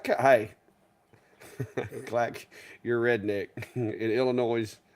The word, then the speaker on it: Illinois: clack Your Redneck in Illinois you don't pronounce the S hey I can't help